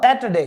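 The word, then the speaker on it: Saturday: डे ठीक है और सैटरडे यहां पे आर साइलेंट है सेट सेट अ सेटरडे इसको बोला जाएगा सेटरडे ठीक है और ये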